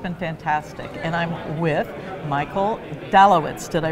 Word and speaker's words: Michael Dalewitz: And I'm with Michael Dalewitz. Did I pronounce that right?